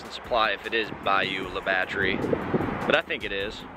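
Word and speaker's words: Bayou La Batre: Supply if it is Bayou La Batterie, but I think it is. How do you pronounce this town? Mobile? No. Bayou La Batterie. Yeah, I was right.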